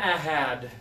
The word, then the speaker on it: had: So this one is had. So you are going to hear a sound at the end of this one, Bernard.